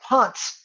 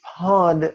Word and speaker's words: pad: It's not pots, it's a T. It's pod with a D. D like in dog.